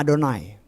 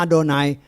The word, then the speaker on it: Adonai: Kalau ada Yod He Waw He, dia selalu bacanya Adonai. Bacanya Adonai walaupun tulisannya YHWH.